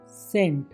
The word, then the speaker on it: scent: SCENT, सेंट। एस के बाद सीधी ई की आवाज़ आ रही है, सी गायब लगता है।